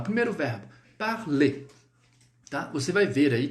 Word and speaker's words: parler: Então, vamos lá, o primeiro verbo, parler. Tá? Você vai ver aí que tem o ER, né? Só que esse R a gente não vai pronunciar. Então a pronúncia ficará assim, ó. Parler. Parler.